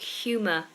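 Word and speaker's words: humour: we have an O you are ending like humor so again that's a schwat ending humor and color good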